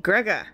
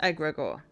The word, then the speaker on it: egregor: Okay, egregor, not egregor. I put the emphasis on the wrong syllable.